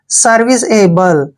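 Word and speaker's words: serviceable: देखिए, अगर ये लंबा वर्ड है तो ऐसे टुकड़ों में बांट के पढ़ेंगे। देखिए, SER, इसको पढ़ते हैं हम सर। क्या पढ़ते हैं, सर। और VI का उच्चारण वी करते हैं, ठीक है, और CE को हम से पढ़ते हैं, सर्विस। क्या हो गया, सर्विस। ए का उच्चारण ए करते हैं, बी को हम बे पढ़ते हैं, और LE को ले पढ़ते हैं, एबल। सर्विस एबल।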